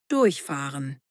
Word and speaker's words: durchfahren: Betonung: Durchfahren.